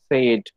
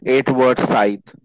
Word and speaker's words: Edward Said: critique and philosopher often you people in uh pronounce it as said no he is from the middle east and his theory is uh called uh orientalism and his name is correctly pronounced as eight word scythe okay so uh the theory generally moves around